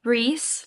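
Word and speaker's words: Rhys: In this one, we are following Reese, like Resand, but it's not Resand. It's just spelled like that, you know?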